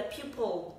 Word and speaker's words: pupil: Nhưng mà rất nhiều người cũng đọc từ này giống như cái từ trên là pupil. Đấy ạ. Thì các bạn nhớ hai cái từ này khác nhau ạ. Từ này mà mình đang highlight này, từ này là people, từ dưới là pupil. Đấy ạ. Nó sẽ khác nhau như thế nhá, nên đừng có đọc lẫn với nhau.